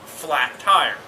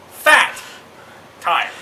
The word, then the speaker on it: Fat Tire: for the entire time we were pronouncing this completely wrong there is no L in this at all as you can see it's called fat time now how in the